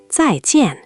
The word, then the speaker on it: 再见: Both syllables are tone 4, both falling. 2 firm drops in a row. Listen. 再见.